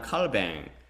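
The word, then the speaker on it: Calvin: 그 다음 개신교 장 칼뱅, 존 켈빈이라는 사람으로 칼뱅이라고 발음하는 원어는 장 칼뱅 종교개혁의 수상을 체계화하여 장로교회를 비롯한 개혁주의 신학의 기틀을 마련했습니다.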